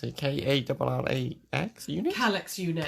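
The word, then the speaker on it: Kallax: Natalie just said contemplating going and reorganising the sewing room and building another, I don't know how you pronounce it, K-A-L-L-A-X unit? Calyx unit. Calyx?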